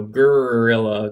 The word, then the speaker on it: GRRR'ILLA: Following Chilla Gorilla, we have Gorilla Grimes, and just so you know, that is spelled GRRR apostrophe ILLA Grimes, so Gorilla Grimes.